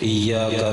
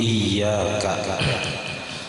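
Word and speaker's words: إياك: Katakhfifi iyyaka, seperti tidak membaca batasdid kalimat iyyaka, dibacanya iyyaka, misalnya ada iyyaka, kadang iyyaka. Nah aturannya batasdid ya-nya, dibacanya kada batasdid.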